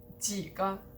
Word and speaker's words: 几个: Also, 几个 means how many, but if you de-stress both syllables, it means a couple. 有几个, like I have a few.